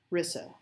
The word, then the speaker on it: Rissa: Darling, I do not know how to say your name. There are so many different ways that could be pronounced. Well, you asked, isn't that what Cog does, metal bending? No, Cog is a tech mage. Like, Cog can make tech do certain things. Rissa. Rissa, that's how you say that.